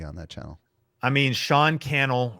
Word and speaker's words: Sean Cannell: I mean, Sean Cannell rhymes with YouTube channel, and that's Instagram would be my favorite place to kind of hang out social media wise.